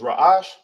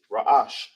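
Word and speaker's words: ראש: You knock off, you got the ra, you got the a, you knock off the h, it's connected to the sha, so it's a sha without the a raash.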